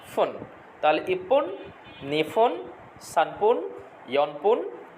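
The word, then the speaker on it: 二分: এরপরে আছে দেখেন 2 নম্বরের জন্য দেওয়া আছে নি ফোন। নি ফোন, নি ফোন 2 মিনিট। তাহলে 1-এর জন্য পর উচ্চারণ পাইলাম, 2-এর জন্য ফর উচ্চারণ পাইলাম, ইপ্পুন নি ফোন।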